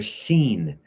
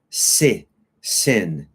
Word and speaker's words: seen: And I've never, for the letter D, I've never seen. Not sin. Seen.